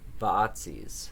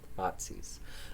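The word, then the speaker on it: Vaatzes: that's right he said vaazis the man said he pronounced it slightly wrong one long a instead of two short ones ah botsis the duke told me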